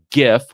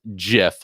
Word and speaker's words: gif: opinion which says that it's pronounced gif with a hard g like a gift or you could pronounce the uh get the incorrect sticker which says that it's pronounced jiff like the peanut butter